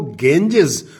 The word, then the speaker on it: Ganges: पर पहुंच गए थे तब उन्होंने गंगा को गेंजेस प्रोनाउंस किया और लैटिन और इंग्लिश लैंग्वेज ने उसे अपना लिया।